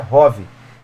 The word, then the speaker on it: ROV: veículo subaquático operado remotamente nesse as letras separadamente are of How r u v nunca se fala of pronuncia Hobby Não cometa esse erro